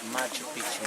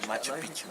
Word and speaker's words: Machu Picchu: And Melchor Arteaga said, "Yes, I know one beautiful located at the top of that Machu Picchu mountain."